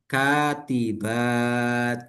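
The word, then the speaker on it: كاتبات: Nah, ketika ketemu dengan kata yang seperti ini, setelah alif itu bacanya kasroh. Dilihat solihat gitu ya. Berarti ini nih katibat gitu ya.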